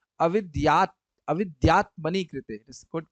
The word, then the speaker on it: अविद्यात्मनि: Avidyatmani krite. It is good pronunciation.